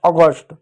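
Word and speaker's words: August: ए यू का तो अ हो गया। जी का ग हो गया। यू साइलेंट रहेगा। आधा स और पूरा ट अगस्ट। फिर आडी हो जाएगा।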